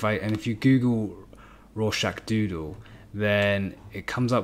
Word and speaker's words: Rorschach: doodle i'm curious who this guy is though raw shack uh that's how you pronounce it and it's referring to the raw shack test uh which is some kind of psychiatrist